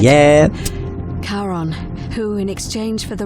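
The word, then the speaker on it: Charon: is a little off the name you heard wasn't karen it was c-h-a-r-o-n as in caron the ferryman of the dead yeah karon who in exchange for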